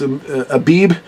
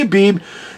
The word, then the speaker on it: Abib: IV because the bets the letter bets the second letter in the Hebrew alphabet can be a b or a v pronounced depending whether it's hard or soft sound but anyway most I